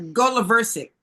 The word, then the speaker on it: Goloversic: Oh, it's go. Okay. The accent is on the go. Right. Goloversic.